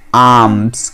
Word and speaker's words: alms: आम ALMSL silent होता है. यहाँ पे हम इसको क्या प्रोनाउंस करेंगे? आर्म्स.